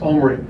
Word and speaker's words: Omri: He said, it's Omri. And then I heard our broadcasters call him Omri all year.